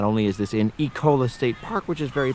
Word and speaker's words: Ecola: or ecola state park I can never pronounce it it looks like this so far everyone I have heard say it has said e Cola so that's what I'll stick with for now not only is this